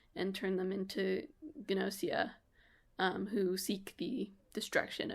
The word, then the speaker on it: Gnosia: six weeks was uh called gnosia pretty sure you pronounced the G um it's uh it's